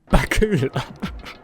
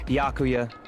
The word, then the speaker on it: Byakuya: Bakua. It's Bakuya.